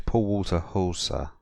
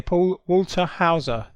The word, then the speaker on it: Paul Walter Hauser: a fat drunk KKK member yeah his name's Paul Walter Hall sir yeah I pronounce that for you oh yeah Paul Walter Hauser Yeah right he was you know how I